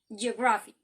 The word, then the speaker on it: geography: last syllable like here in geography the stress is in the first syllable geography okay in the word